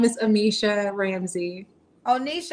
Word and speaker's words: Amicia: My name is Amisha Ramsey. Oh, Nisha. How you spell it? Amisha. It's Amicia, like Alicia, but Amisha.